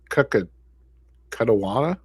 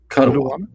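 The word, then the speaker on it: Kuttawa: I don't even know how to pronounce Cuttawata. Cuttawa.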